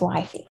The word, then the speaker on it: WFY: memorizing the acronym wifey which is wfy and pronounced as wifey i came up with